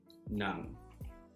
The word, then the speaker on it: ng: And in Tagalog, we have ng, which is pronounced nang.